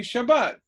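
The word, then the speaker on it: שַׁבָּת: go what that the accent is on the last syllable oh okay Shabbat hi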